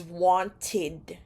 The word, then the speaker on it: wanted: you pronounce them correctly for verbs that end in A D or t sound the pronunciation of Ed is id id so for examp example want ends in a t sound want and therefore the pronunciation of this word is wanted wanted or in America they say